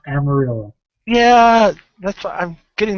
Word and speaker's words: Amarillo: This will be at Almario. I think totally screwing up the name. Texas. And I believe Bostria will be there at the Amarillo. It's pronounced Amarillo.